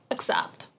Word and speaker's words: accept: are pronounced slightly differently the first vowel sound is pronounced differently except starts with the sound a accept and except starts with a sound e except but whenever you pronounce